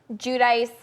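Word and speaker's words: Giudice: Judice, however you want to say it. Judice. That's how they say it. That's how Teresa says it.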